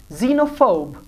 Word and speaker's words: xenophobe: However, at the beginning of word, X is often pronounced like English Z. So this is xylophone. Now you will not say xylophone, no. This is xylophone. Xenophobe, xenia, zing.